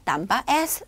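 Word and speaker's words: tambah: 바에 대해서 볼 건데요 땀받이 뒤에 흐 발음 들어가고요 앞에 있는 딴 파하고 땀과 하고 발음 대 비슷하죠 그래서 되게 시끄러운 식당에서는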